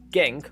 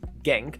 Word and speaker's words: Genk: the list is krc genk from the belgium pro league a well i believe i pronounced name wrongly it sounds like hank but yeah i'm just going to call it genk and genk won the